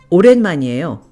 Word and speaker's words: 오랜만이에요: You'll also hear people using the contracted form, one syllable less. 오랜만이에요.